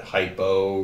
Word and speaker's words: hypo: Sometimes I have students think that hypo rhymes with low.